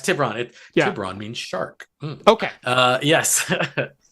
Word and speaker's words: Tiburon: I looked at However that you pronounce it. too. Yeah. Yeah, it's Tiburon.